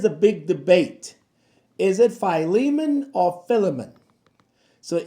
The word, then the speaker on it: Philemon: So, if you're in front of the camera, you say Phileiman. If you're behind the camera like someone I know, you say Filament. But I'm your pastor. This is how you say it. Phileiman. Don't say it like John. Filament. No. Phileiman.